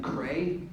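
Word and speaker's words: Kreye: Cray, did I pronounce it correctly? K-R-E-Y-E? Yes.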